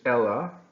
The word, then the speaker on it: ella: The double L is pronounced like a Y. We've talked about this before, but make sure, I know it looks like the name in English, Ella, but we're not talking about Ella.